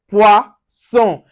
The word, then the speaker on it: poisson: Now, for instance, we have poisson, poisson. So you can see the son. We don't say zone here. The double S gives us so. So we say poisson.